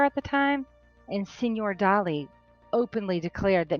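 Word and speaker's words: Dalí: When I first spotted this drawing, I thought it was a young Salvador Dali, or let me pronounce it correctly, Salvador Dali.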